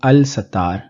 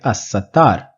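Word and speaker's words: السَّتَّار: the cover of sins in assar I am not pronouncing the lamb in Al I'm not saying Al satar I'm pronouncing it assar the reason I'm saying assar is because the scene that follows the lamb in Al is included in the sun letters or shami in other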